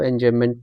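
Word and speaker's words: enjambment: ये बी का जो साउंड है ना साइलेंट रहेगा। तो एंजममेंट पढ़ दीजिएगा आप इसे।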